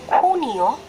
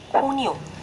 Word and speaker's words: junio: You will notice the spelling will start with kota, okay? And as we know, kota always pronounced as k. So that's why it's junio. It's not junio, okay? We will pronounce junio. Always remember that.